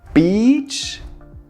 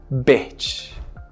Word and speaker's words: beach: As in the word bitch, beach, bitch.